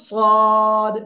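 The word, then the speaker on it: صاد: ওকে এই যে অক্ষরটা এই অক্ষরের নাম হলো সদ মোটা আওয়াজে পড়তে হবে সদ জিহ্বার আগা সামনে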